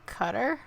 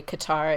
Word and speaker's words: Qatar: someone with a knife cutter yep there you go I'm like it's not right because that definitely doesn't have a cue sound it definitely does not have a cue sound but it depends on how you say it some people say Qatar and some say Qatar also I was right yeah